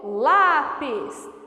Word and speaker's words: lápis: isso ou por exemplo lápis chama a palavra lápis é paroxítona o lá é mais forte que o pês então lápis é terminada